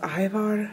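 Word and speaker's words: Ajvar: in my last video I think it's pronounced Ivar but this stuff is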